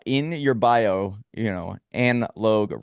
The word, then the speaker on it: Logue: And I like how you say in your bio, Anne Logue rhymes with Vogue.